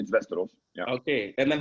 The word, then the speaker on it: Västerås: He's actually the head coach at Västerås. Did I say that right? In Sweden? Almost, yeah. Oh, how do you pronounce it? It's like in the Game of Thrones, Westeros.